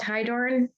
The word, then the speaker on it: Hydorn: Katie, I don't know if it's pronounced Hydorn. Hi, yeah, you absolutely got it right.